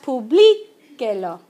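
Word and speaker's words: publíquelo: When we cover up the lo, the U is one syllable. Those vowel groups count as one syllable, so we go second to last, publiquelo.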